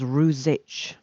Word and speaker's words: Rouzic: Yeah, now you see, I said that as his pronunciation all these years, and then we discovered that the Slavic slash Czech way of saying it is Ruzic.